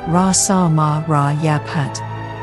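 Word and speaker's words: phat: The mantra is, A ka sa ma ra cha sha da ra sa ma ra ya pat. In Tibetan, the last syllable pat is often pronounced pay.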